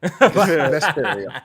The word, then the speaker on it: Vesperia: Vesperia. Vesperia, yeah. I tried that game. I believe Vesperia.